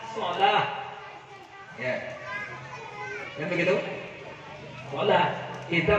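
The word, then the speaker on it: صلاة: begitu diubahbahasa jadi salat Biasanya kalau di TA marbutah terakhirnya itu diwakafkan bacanya tidak dikasih harkat bunyinya ha salah ya kan begitu salah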